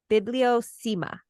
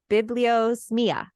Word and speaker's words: bibliosmia: But the word for this is bibliosema. No, bibliosmia. It's like Italian or something.